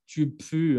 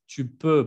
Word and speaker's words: tu peux: Y no vayan a pronunciar tu peux, ¿eh? Que muchos dicen U al lugar de E, pero es tu peux, porque tu peux, eso no es puedes, es apestas.